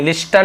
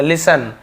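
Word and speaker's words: listen: The sultan said लिसन, तो राजा ने कहा, लिसन यानी सुनो, यहाँ पे टी साइलेंट है, लिखते जरूर है लेकिन इसे पढ़ेंगे, लिस्टन नहीं बोलेंगे, लिसन, टी को साइलेंट लेटर है यहाँ पे, लिसन।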